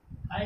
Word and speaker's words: high: इसमें जी के बाद एच आया तो जी क्या हो गया, साइलेंट हो गया।